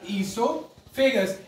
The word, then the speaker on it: oesophagus: इसके अंदर हमारा ओ जो होता है पहला वाला वो साइलेंट होता है, तो हम इसको पढ़ते हैं ईसोफेगस।